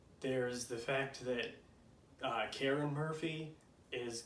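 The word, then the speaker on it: Karrin: the books but that's it's k-a-r-r-i-n but it's karen it's not hard to pronounce it's not like weird to say just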